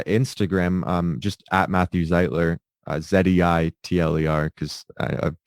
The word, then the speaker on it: Zeitler: um just at matthew zeitler zdi tler cause i i've been people have been spelling or pronouncing my name wrong probably since i was a kid everybody everybody always says zietler um but yeah my